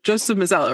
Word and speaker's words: Mazzello: But one of them was that Joseph Mazzello, right?